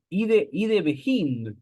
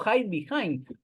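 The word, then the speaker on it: Hidebehind: O ide behind, pero en realidad, claro, hay que pronunciarlo en inglés, porque es Estados Unidos, como hide behind, que básicamente se traduce como el que se esconde detrás, ¿no?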